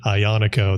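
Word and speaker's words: Aglianico: most definitely well so ionico um you know a southern Italian grape hard to pronounce I know because it has like this g in it but you don't pronounce the G um when the Italians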